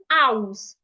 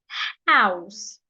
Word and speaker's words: house: like the word house you hear people say something like ows they will not pronounce the h they will leave out the H that is wrong the H is not silent so it must be heard take a deep breath and say house another example is Hospital